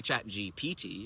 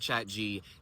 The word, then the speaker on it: ChatGPT: But why are we doing this when there's so clearly a P in the middle of its name?